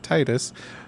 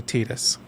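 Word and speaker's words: Tidus: in Kingdom Hearts 2, someone says it like Titus. So, which is it? It is technically Tetus. It's just like Aith is pronounced Aith even though in the PS1 localization she was called it was spelled AIS.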